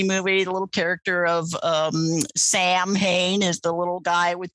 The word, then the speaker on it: Samhain: It was based on an old Irish Celtic holiday called Samhain. And by the way, that's spelled Samhain, which is why there are a million horror movies with characters named Sam Hain in them.